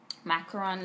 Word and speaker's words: Macaron: I'll be reviewing the NYX Macaron lipsticks.